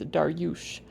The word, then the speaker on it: Darius: minions of orthodoxy learn the Persian pronunciation of my name, which is Darush.